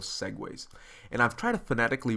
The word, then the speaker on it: segue: the different scenes are connected using something called Segways and I've tried to fanatically break this down because I heard some mispronunciations of this term it's pronounced Segways and that's very much like of course the